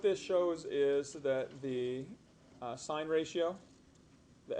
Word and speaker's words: sine: This represents sine. And the sin, this, when it's written sin theta, it's actually pronounced sine of theta.